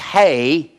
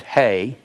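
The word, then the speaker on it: ἡ: So when you find the eta, that's pronounced hey. It's got a diacritical mark above it. It's pronounced hey. Or hey. That's where it's pronounced.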